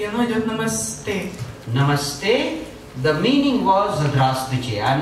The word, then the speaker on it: namaste: Namaste. And you can see the sound stay. The sa is not fully pronounced. Namaste.